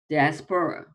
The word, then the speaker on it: diaspora: word spelling it is d-i-a-s-p-o-r-a um that's the spelling of the word and the pronunciation of the word is diaspora okay so diaspora and so basically it